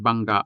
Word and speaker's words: bangga: Let's take the word bangga, for example. Bangga. Notice the hard vowel at the end.